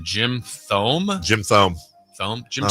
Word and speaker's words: Thome: Another tough pronunciation. Jim Thome. Jim Thome. Jim No, Thome.